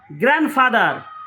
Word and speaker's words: grandfather: Grandfather, D is silent.